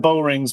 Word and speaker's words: Bowring: Let's talk about Shannon Bowring's books. I like Maine writers, and I believe she is a librarian. She is a librarian. So Shannon, it's pronounced Bowring. I asked her.